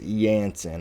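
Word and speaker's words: Jansen: Somebody in the comments said that it was pronounced Yansen.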